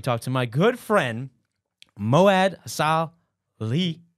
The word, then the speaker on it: Mouad Salhi: And today I have an opportunity to talk to my good friend, Mouad Salhi. Did I say it right? Yes, He goes by Mo, okay?